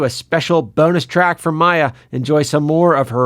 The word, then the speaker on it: Maiah: has oh we were we've gotten a lot of really weird really weird pronunciations I think Mia hiya was the yeah hi that's the weirdest one I got yeah well awesome Maya thank you so much